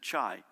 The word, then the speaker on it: Chai: he pronounced his name he said chai is in the tea born in bangkok thailand